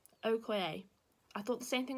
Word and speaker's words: Okoye: It's actually pronounced Okoye. Okoye.